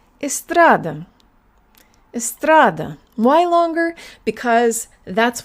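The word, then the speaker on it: эстрада: Read it all together and make sure that the middle syllable is longer. Estrada.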